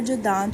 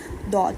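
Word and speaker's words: ض: जुबान के जो किनारे होते हैं उनको अंदर जो दांत होते हैं ना दाढ़े जो होती हैं वहां से वहां हम टच करते हैं। एक साइड टच होती है दौद को प्रोनाउंस करते हुए।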